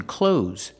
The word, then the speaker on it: clothes: wearing clothes that's good pronunciation clothes use the long o like no and go clo and the Z sound like Zebra z close close I'm wearing clothes